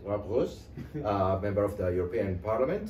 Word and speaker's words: Roos: And we're with Mr. Roos, or as he pronounced it, Roos, member of the European Parliament from the Netherlands.